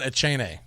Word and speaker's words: Achane: From my understanding, it's Devon Achane, but I could be wrong.